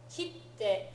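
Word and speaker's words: 切って: Okay, these three verbs all exist. Kite, to come. Kitte, to cut. It's not just a stamp, it's also to cut. Kiru is the original verb. Kiru, kitte. Okay, and then kiite, to listen, right, or to ask. Kiite kudasai. Right? So let's practice our pronunciation of those three so that we're differentiating them. Okay?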